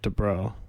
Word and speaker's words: Dabreau: it's a weird name to say, mainly because of how it's spelled. Yeah. It doesn't look like it would sound like Dabreau.